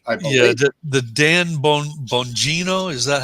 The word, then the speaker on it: Bongino: Yeah, the Dan Bongino, is that how you say it? Dan Bongino, yeah, I know him.